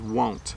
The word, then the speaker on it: won't: Says, the pronunciation of want versus won't.